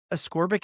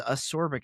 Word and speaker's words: ascorbic: So, ascorbic acid. I always thought it was asorbic acid. I guess I just misheard that.